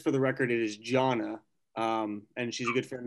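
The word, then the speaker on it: Johna: Just for the record, it is Jonna, and she's a good friend of mine and would be a wonderful addition to the commission.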